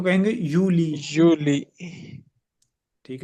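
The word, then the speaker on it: Juli: यूनी यूननी यूली यूनी और जुलाई को कहेंगे यूली यूली ठीक है यूली ऑगस्ट या और अगस्त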